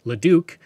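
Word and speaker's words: Leduc: several names including Leo which is now pronounced leuk in honor of a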